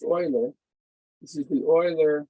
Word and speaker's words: Euler: important function of control cryptography cryptography this is pronounced euler this is the euler c function this is